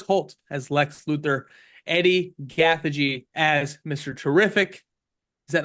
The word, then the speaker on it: Gathegi: Eddie Gathegi as Mr.